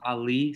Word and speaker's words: Ali: It's pronounced Ali, so.